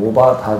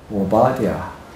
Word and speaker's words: 오바디아: 장까지 있지요 1장밖에 없습니다이 발음이 오바다 아니라 오바디 오바디아 발음이 을하는데에 오바디아 여기 보게